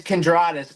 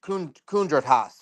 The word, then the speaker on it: Kendraus: It's It's Kendraus, but I don't pronounce I told you. I told you. I got your five bucks. Yeah, it's Kendra. But but apparently like Lithuanians will be like it's Kundraas or whatever.